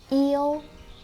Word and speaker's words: yêu: So for example, yêu, flat tone, yêu means to love. It has totally different meaning with yếu, up tone, means being weak.